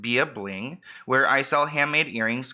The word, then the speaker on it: bya.bling: few items few items um so it's bya.bling pronounced be a bling where i sell handmade earrings glitter and more